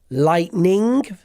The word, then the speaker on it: lightning: what you get uh we then had some pronunciation issues which I'd like to briefly address uh so we had that one lightning lightning versus light lighting lighting lighting Ting Ting